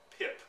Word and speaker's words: PIP: of insurance normally called PIP, P-I-P. It rhymes with SIP, and it is a kind of insurance on your policy, a no-fault insurance.